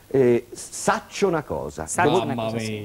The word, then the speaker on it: Saccio 'na cosa: brano e che si intitola o perlomeno si pronuncia in questo brano saccio una cosa Eh saccio una cosa Sì che so una